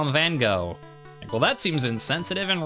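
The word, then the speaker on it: Van Gogh: and you like it's like I'm naming him van go cuz he's an artist like well it's not pronounced van go it's van go except it's like C or something like that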